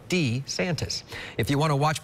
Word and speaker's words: DeSantis: little bit of question he said it's Ron de santis if you want to